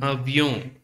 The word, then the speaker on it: avion: We already know the first letter, and avion. See, here's the pronunciation avion, avion, and avion, and avion.